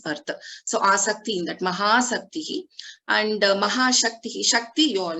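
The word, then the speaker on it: महासक्तिः: Is it not Mahashaktihi? Is it Mahasaktihi? So both are different. Here Mahasaktihi means with Maha-asakti, interest.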